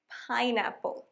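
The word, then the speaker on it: pineapple: এরপর আনারস, পাইনঅ্যাপল।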